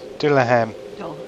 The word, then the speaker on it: Dullahan: Aye, Dulian. Dulhan. No, I don't know. How do you pronounce this? Dullahan.